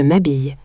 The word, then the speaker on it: m'habille: Attention à la prononciation. On fait la liaison. Je m'habille. To get dressed.